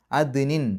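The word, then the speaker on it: عدن: അദ്നിൻ, ദാലിന് സുക്കൂന് കൽക്കലത്തിൻ്റെ അക്ഷരമാണ്, എടുത്ത് പറയണം, വെളിവാക്കി പറയണം. ദ് എന്നുള്ള ശബ്ദം പുറത്തേക്ക് കേൾക്കണം.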